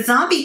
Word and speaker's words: zombie: The zombie costume is so overplayed.